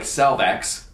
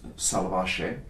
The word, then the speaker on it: Salvaje: Now, the Salvace looks like Salvax, but in the proper pronunciation, it's salvaje.